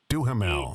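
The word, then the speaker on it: Duhamel: Pronounce his name again for me. Duamel.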